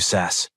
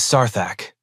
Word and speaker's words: Sarthak: That's really brave of you, Sass. Respectable. It is Sarthak, and you will learn to pronounce it properly while you are lying on the floor wondering where your confidence went.